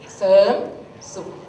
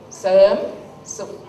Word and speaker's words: Serm Suk: My name is Serm Suk. Serm Suk. You can hear that Serm. There's no R sound. But in here I put R, right?